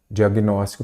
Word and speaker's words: diagnóstico: aí você vai observar Qual que é a sílaba forte é a antepenúltima semana ter penúltimo ela é uma palavra proparoxítona todas são acentuadas então diagnóstico tem que ter assento do professor da